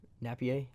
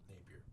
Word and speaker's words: Napier: is I mean if Napier I think is how you say his name Napier Napier I'm sorry to those it's not as French it's not as French as it looks yeah to to Florida